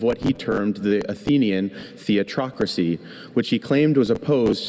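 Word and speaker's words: theatrocracy: Just the one. Theatocracy.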